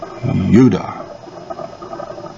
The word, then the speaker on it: Judea: judea is it mormons judea is yuda it's not the j judah judah is phonetically